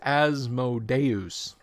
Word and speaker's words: Asmodeus: So let's take a gander at Asmodius. Although Adam says technically it's Asmodeus. I've been saying Asmodius since I was 12 years old, so I'm just going to stick to that.